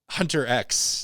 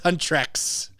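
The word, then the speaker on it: HUNTR/X: 94.7 KKCK, soft plug, I will apologize for mispronouncing the name of the group for the last few months. What were you saying? Hunter X. Oh, Because it's written as Hunter X. I didn't know it was Huntrex.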